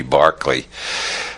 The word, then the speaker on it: Berkeley: lights and Bishop Barkley George Barkley after whom the city of Berkeley is named because I'm Americans don't know how to pronounce Irish names it should be Barkley uh Bishop Barkley proved